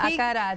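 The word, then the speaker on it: acarajé: Veronica and Jessica join us to make Acaraje. Did I say it correctly? Yes, Almost. Acaraje.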